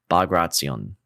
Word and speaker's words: Bagration: So hopefully I can say it right, but it's Bagration.